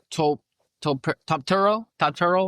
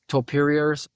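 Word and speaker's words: Topuria: the super fight people are hoping they're gonna get is fucking Topturo. It's not how you say it. It's how Conor McGregor says it when he's making fun of him. It's Topuriers. Yeah. He's a Georgian guy who's from Spain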